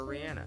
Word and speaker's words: Rihanna: so from now on I will call her Rihanna by the way did y'all know that Rihanna's